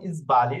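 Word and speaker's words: sbagli: যেরকম ইসবালি শব্দটা দেখুন, ইসবালি, এখানে এস অক্ষরের পরে কি অক্ষর আছে? এস অক্ষরের পরে পরের অক্ষর বি আছে, তো আমাদের নিয়মে কি ছিল?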